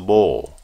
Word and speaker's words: bowl: 사발은 뭘입니까? ball입니까? 볼, 오 발음 이중 모음이 나올 겁니다. 여러분들 그러면 기다리시면서 한번 들어볼까요? He is pouring water into the bowl.